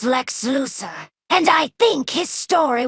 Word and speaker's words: Lex Luthor: Mother, his name is pronounced Lex Luthor, and I think his story will be better written than the Titan Havik invasion.